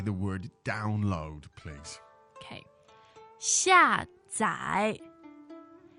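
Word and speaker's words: 下载: 下载. 下载. So fourth and third tone.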